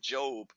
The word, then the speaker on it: Job: of the book of Job and remember it's not job you can tell of